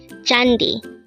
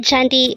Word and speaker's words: 잔디: 345 chandi chandi this pronounces a two syllable word the first syllable is Jan second syllable is the pronounce it with me jandi Korean word jandi is simply the Korean